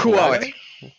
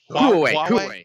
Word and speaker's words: Huawei: It's currently used, we believe, I think, in the I always pronounce this wrong. Huawei VR glass. Is it Huawei. Huawei.